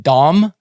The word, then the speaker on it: Dam: you're from denmark danish damn is i think actually pronounced dom thomas dom but i like saying damn better so what did trolls